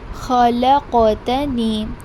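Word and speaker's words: خلقتني: Now if you look this word khalaqtani, both the letters of ka sound are present, khaf and qaf. Do not interchange their pronunciation. Every letter, as we have learned before, has its own sound.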